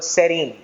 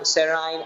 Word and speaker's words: serine: letters I and E, and I pronounce them amino acid and I call them serine, valine, threonine, and so forth. But there are also people who pronounce it as valine, serine, amino acid, and so forth. The choice is yours, but it's pronounced either way.